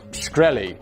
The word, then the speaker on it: Shkreli: Ted Gowdy asked, is it pronounced Shkreli? To which an off-guard Martin replied, yes, sir.